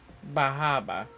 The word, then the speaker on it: Bar Harbor: We're going to Bahaba.